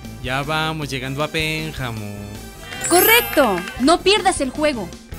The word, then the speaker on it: Pénjamo: La regla básica indica que todas las palabras cuya fuerza se encuentre en la antepenúltima sílaba, es decir, las esdrújulas, llevan siempre acento prosódico, gráfico o tilde.